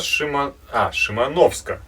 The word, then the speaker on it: Шимановск: Здравствуйте, Алексей, передаем вам большой привет с Дальнего Востока, с нашего маленького городка Шимановска, ударение на О.